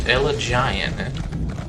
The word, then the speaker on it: Elagian: Elagian, I kept pronouncing that wrong. But it's just spelled so weird. It's like elegant, but Elagian.